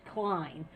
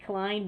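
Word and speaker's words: Klain: chosen chief of staff ron clayne and it might be pronounced klein so don't send mail if i have it wrong i think it may be klein but it looks like claim to me he says it and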